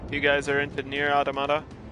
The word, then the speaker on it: Automata: guys are into Nier automata or automata as some people pronounce and some super hard